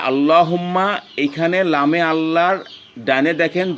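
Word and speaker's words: اللّٰهُمَّ: লামে আল্লাহর ডাইনে যদি জবর অথবা পেশ থাকে তাহলে ল হবে। আমি আবারও বলি, যেমন এই যে আল্লাহুম্মা, এইখানে লামে আল্লাহর ডাইনে দেখেন জবর আছে, তাহলে এখানে আমরা আল্লাহুম্মা বলবো।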